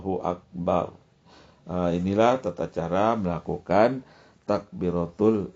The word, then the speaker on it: akbar: itu ee ketentuan lainnya huruf ro dibaca secara jazam sukun Ro Jadi ujungnya dibaca bar artinya tidak boleh didomahan ya jangan Allahu akbar jangan sekalipun ditulisnya baru ya baru tapi ee dibacanya sukun dimatikan saja Allahu akbar inilah tata cara melakukan